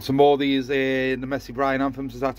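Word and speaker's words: Mesembryanthemum: yet i've got some more these in the messy bryan anthems that's how you pronounce them uh little daisy things they're sitting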